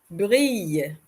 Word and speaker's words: brille: Brille, brille. Double L in French is not always pronounced le, L. So, in this case, we have it being pronounced more like the letter Y, y, y.